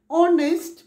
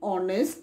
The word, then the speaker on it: honest: similarly we say an honest man because h in honest is silent the word begins with